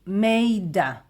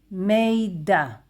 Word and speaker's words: מידע: This is how we pronounce it. Informacja. Informacja. And there is also a new word in Hebrew. Miדע. Miדע.